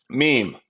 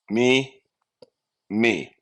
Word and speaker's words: meme: what a meme Is MeMe this word me me it's pronounced meme rhymes with beam meme a meme is